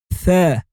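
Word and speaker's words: ثاء: The fourth letter is Tha. Tha is also looking like a bow, but this time there are three tennis balls on top of it. And the crazy thing is that it does also sound like the th of three. So you say th, th, th, th.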